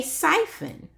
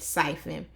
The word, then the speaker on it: siphon: And notice how I said siphon, because the author gave me a clue right here to let me know how to pronounce it. S-Y says si, F-U-N says fun, siphon, siphon.